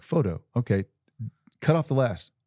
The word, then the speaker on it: Pho: P-H-O-T-O. P-H-O-T-O. Photo. All right. Now say this. P-H-O. Pho. See? Why do people say fa?